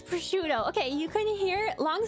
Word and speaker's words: prosciutto: It's prosciutto.